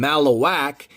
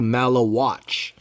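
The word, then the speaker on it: Maluach: Malowatch is what I was told I should be pronouncing his name. I was calling him Malawak, but I was told that I was whack for doing so because it should be Malawatch.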